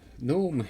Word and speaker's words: Knome: hey welcome to gnome gnome is a game about gnomes it's spelled a little bit differently but i'll get